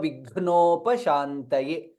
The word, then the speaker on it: विघ्नोपशान्तये: Gha is Mahaprana, hence it is in green color. It is gha and na, ghna. Sarva Vignopashantaye.